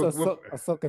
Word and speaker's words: Ahsoka: way- coming I like the way to you pronounce her name. It's Ahsoka Tano.